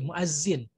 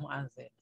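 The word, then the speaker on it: مؤذن: Itu kita semua sudah tahu ya, karena dalam bahasa Indonesia pun tetap mu'adzin. Cuman dalam KBBI jadi lucu karena pakai Z, jadi mu'azzin. Yang benar adalah mu'adzin.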